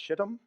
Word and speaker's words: Shittim: It is pronounced Shittim.